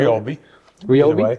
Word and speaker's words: Ryobi: unit that's a Ryobi hurry how do you pronounce that is that Ryobi right Ryobi okay all right turn it on it lights